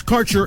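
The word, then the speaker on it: Kaercher: Your connection to quality cannabis insurance services is spelled K A E R C H E R. That's Carter Insurance.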